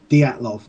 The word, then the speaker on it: Dyatlov: reading about it before, but apparently it is Dyatlov, Dyatlov.